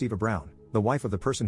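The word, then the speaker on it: Eva Braun: of the historical figure Eva Brun which is pronounced Eva Brown the wife of the person who started World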